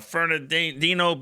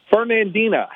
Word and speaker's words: Fernandina: All right, Keith in uh Fernandino Beach, Florida. Good morning, Nick. How are you? Good. How you How do you say that? Fernandina. Fernandino Beach.